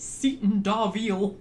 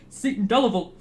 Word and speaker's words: Seaton Delaval: And they pronounced it Seaton Darville. And me and my mum were like, Seaton Darville? What the fuck is that? Seaton Delaval.